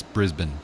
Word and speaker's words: Brisbane: not male born its Melbourne and yeah it's Brisbane Brisbane its Brisbane all right we're still I